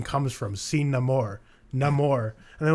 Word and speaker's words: Namor: what the hell so for me I pronounce it no more because I'm sticking with what actually culturally's name is but I just found